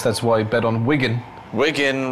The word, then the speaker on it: Wigan: why bet on Wigan Wigan remember rhymes with winen tell them you know